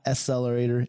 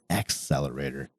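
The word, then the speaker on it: Xtellerator: the Artisan colory accelerator yes I'm accentuating the X because it is spelled X t e l l e r a t o r not accelerator it's accelerator this thing is a beast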